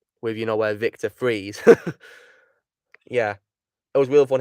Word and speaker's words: Fries: how you know oh he said his name if it's a freeze and then they said they said they pronounced it it spelt like french fries yeah yeah stranger's death